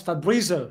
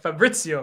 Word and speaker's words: Fabrizio: Milan player brah that's a quick oh that's fabrizo yeah fabrizo fabrizo Fabrizio man Arabic it's not Arabic you can't pronounce names bro s you're trying to see